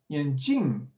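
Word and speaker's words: 眼镜: Here you've got a nice word called yanjing, and it means eyes, some beautiful eyes here, right? If you pronounce it a bit differently, yanjing, it means glasses.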